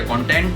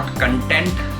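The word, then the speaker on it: content: तो इस तरह के कंटेंट अगर आपको पसंद है, एक गाइस मैं बात बताना चाहूंगा, इट्स नॉट कंटेंट, प्रोनाउंसिएशन गलत है, इट इज कंटेंट।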